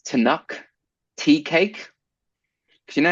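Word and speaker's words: Tunnock's: It's called I think it's Tanuk tea cake.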